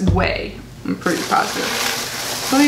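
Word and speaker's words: OUAI: Like if you look at it, it's like all vowels, O-U-A-I, and I was like, Uai, but it's way.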